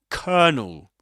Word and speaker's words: colonel: he says is that the word looks like colonel. It's written colonel and it seems to be pronounced something like colell or colonel but actually it's pronounced as kernel.